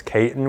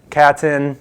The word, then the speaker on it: Caton: My name is Caton with a long A, not a short A. My name's been butchered for many years and it's only 5 letters long. I usually always hear Caton, Canton, which is impossible